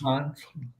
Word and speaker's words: HANS: Hans.